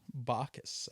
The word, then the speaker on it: Bacchus: Chris Bacchus. Bacchus, actually.